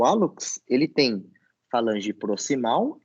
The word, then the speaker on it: hallux: E repara, é hallux, não é Hilux, beleza?